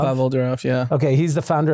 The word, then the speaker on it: Pavel Durov: So I don't know how to pronounce, is it Pavel Durov? Pavel Durov, yeah.